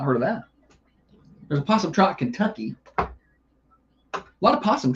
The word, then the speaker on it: Possum Trot: There's a Possum Trot, Kentucky. A lot of possum trots out there. It's spelled with a P, not an O. It's not O possum Trot. It's just possum Trot.